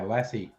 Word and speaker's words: lassi: soup wait a minute the dog the dog pronounced the same l-a-s-s-i lassie a yogurt drink indian's